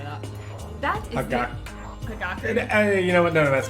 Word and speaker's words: Hagakure: That is Hagakure.